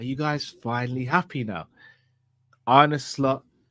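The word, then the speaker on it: Arne Slot: guys finally happy now an slot or ar slot as he says it's pronounced yeah AR slot AR something has finally had his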